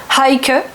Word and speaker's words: Heike: un prénom bien allemand, Heike. Faut bien prononcer le H devant, H-E-I-K-E.